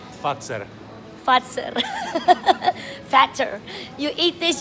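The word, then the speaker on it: Fazer: So this is what I used to call phaser, and it's pronounced fatser.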